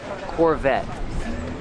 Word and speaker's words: Corvette: let's talk about pronunciation Corvette the t is a stop T the E is silent Corvette Corvette pronounce a V with voice Corvette this is a